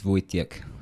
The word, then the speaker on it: Wojtek: a little bear called watch deck what would you guess I mean you throw yeah so spelt woods tech pronounced voice Nick with yeah yeah and it's